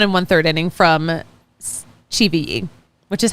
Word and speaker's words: Chivilli: We got 1 1/3 inning from Chivilli, which is how you say his name. It's on the pronunciation guide. It's not Chivilli.